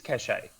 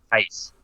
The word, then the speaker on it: cachet: In reference to that word, it is cachet. When you're talking about what's the other words? Can we not argue about how words pronounced? Clout. When you're referring to clout and that sort of thing, I thought cachet was the actual word in that context. Well, it's always... It's not case.